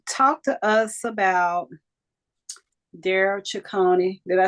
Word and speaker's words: Chicoine: So talk to us about Darryl Chicoine. Did I say it right? Chicoine. It's okay. That's Chicoine.